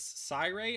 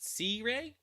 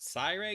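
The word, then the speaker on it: Siyray: can see a lot that i use is cyrae i pronounce it but it's spelled s i y r-a-y so a lot of people pronounce it c-rey but i pronounce it cyrae because of like i like the word i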